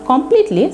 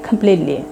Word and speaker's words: completely: Not completely, say completely. ক যেখানে আছে সেখানে আমরা খয়ের মতো উচ্চারণ করবো এবং মাঝের ঠিটাকে আমরা ডি এর মতো উচ্চারণ করবো, কারণ এই দুই পাশে ভাওয়েল আছে।